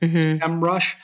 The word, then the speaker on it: SEMrush: One of the probably most used SEO software program is one called SEMrush, or some people pronounce it SEMrush.